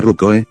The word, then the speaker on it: Ruko: Ino miró a su superior y mentora del año pasado, Layla Ruko, se pronuncia Rukoe, y se sonrojó profundamente al mirarla con orgullo y nerviosismo.